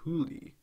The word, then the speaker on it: Huli: A poor but talented high school boy called Huli whose name is pronounced very similar to the term for fox in Chinese.